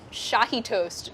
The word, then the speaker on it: Shahi toast: We're making Shahi toast, which kind of rhymes with dahi toast, but they are totally different.